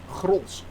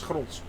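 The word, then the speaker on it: Grolsch: like Amstel, I like Gros very much, yeah. For those that actually are wondering, is it pronounced Gros? Yes, it is pronounced Gros with the G. It's Gros.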